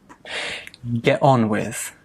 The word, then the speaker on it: get on with: Get on with, get on with. So sometimes we don't even pronounce that T.